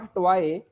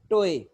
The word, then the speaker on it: toy: टोए, TOY, नॉट टॉय बट टोए, बोए।